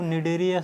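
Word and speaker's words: Cnidaria: देखो निडेरिया पढ़ते हैं, लेकिन इसका प्रोनाउंसिएशन तो निडेरिया से होता है, पर इसकी स्पेलिंग जो स्टार्ट होती है वो सी से स्टार्ट होती है।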